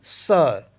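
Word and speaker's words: sœur: अ for example जैसे एस ओ ई यू आर इसको पढ़ते हम सर सर मीस होता है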